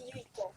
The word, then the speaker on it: Yuiko: And am I pronouncing right? Yes, Yuiko. Yuiko.